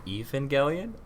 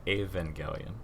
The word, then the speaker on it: Evangelion: IVA Gillian it's a it's a Japanese TV show with an English name so you can pronounce it however you want it sounds good good